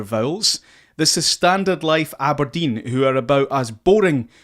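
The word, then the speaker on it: abrdn: me aberdeen aberdeen aberdeen so aberdeen you've to pronounce it aberdeen but the vowels are gone the vowels are gone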